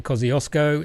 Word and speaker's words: Kościuszko: When I said that to my wife, she laughed at me because apparently that's not how you say it, but that's how we say it in Australia.